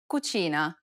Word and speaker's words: cucina: This sound is identical to the ch in church.